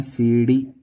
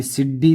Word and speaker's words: सीढ़ी: जो बिंदु आने वाला है इसका उच्चारण देखो, जो जीभ है अपने ऊपर से टच होके आती है थोड़ी सी, बिल्कुल डी। सीढ़ी। अभी सिड्डी तो नहीं होती, सिड्डी जो पढ़ते हैं वो गलत पढ़ते हैं।